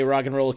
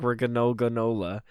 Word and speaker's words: Roggenrola: It's like a cereal name. It's like Roggenrola. It's not. It's granola.